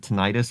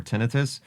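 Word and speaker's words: tinnitus: emphasize the fact that depending on how you pronounce the word tonitis or tenitus, you're either uh a royal British British oligar in the 1600s or your your Randy from southern Texas.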